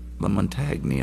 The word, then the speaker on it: LaMontagne: Most people don't pronounce his name right. Lamontagne all the way. That's how it works.